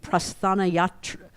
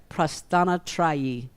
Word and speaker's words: Prasthanatrayi: They are part of the Prasthanayatra. Let me say it right. Prasthanatrayi.